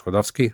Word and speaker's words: Klodowski: And I said Kodvski.